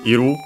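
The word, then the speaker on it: いる: Te form in this case required to add iru, here shortened into ru. The other verb of existence for animated things, unaccented, this one.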